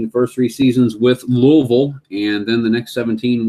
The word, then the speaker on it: Louisville: first three seasons with Louisville and then the next 17 with the Pirates noticed that I pronounced Louisville correctly it's not Louisville it's not Louisville it's Louisville I got family there they'd